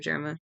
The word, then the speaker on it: Germa: Um, this is just like germa. Okay. Like germ.